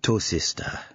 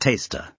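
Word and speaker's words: Tawcester: "I have never been so happy as being here at Tosista." She gave full weight to each of the place-name syllables. No, sorry," said Blotto. "It's pronounced taster."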